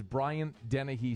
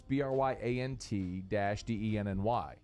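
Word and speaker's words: Bryant–Denny: All right, Shelby Kelly, ask us, is Bryant Dennehy Stadium our house from now on? No, listen, Shelby, you don't spell it BRYANDENNAHEE. It's BRYANT-DENNY.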